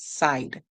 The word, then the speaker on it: side: So we hear I'd, I'd, side. The E is silent.